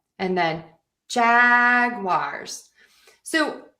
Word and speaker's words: Jaguars: So I do hear some variations on the ending of the Jaguars. Um I'm going to say think about just unstressing that syllable and don't think about being too specific with the vowel and that will help.